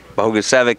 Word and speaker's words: Bogusevic: how to say it it's bogus evic and I wondered why